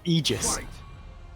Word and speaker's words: Aegis: Aegis is actually meant to be pronounced Aegis. But that sounds stupid, so I pronounce it Aegis.